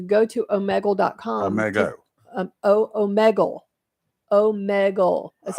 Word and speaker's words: Omegle: Omegle. That's how it's pronounced. OMEGLE.